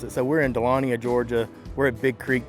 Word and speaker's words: Dahlonega: Dahlonega. I say Dahlonega. How do y'all say it? How is it pronounced? Dahlonega. Dahlonega. I say Dahlonega. Yep. No. So I have to really enunciate the G, right?